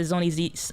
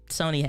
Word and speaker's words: Sony: is how it works but talking about the zonizi sony zoni or sony it is actually pronounced sony zve10 usbc let's cut over to that camera